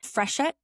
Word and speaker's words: Freshet: She is a veteran journalist, uh, co-founder, editor, and reporter at a new publication called, and correct me if I'm pronouncing this incorrectly, Freshet.